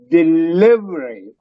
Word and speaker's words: delivery: In this case, is delivery. Delivery. Delivery. That second E, VERY, is pronounced very softly, not stressed.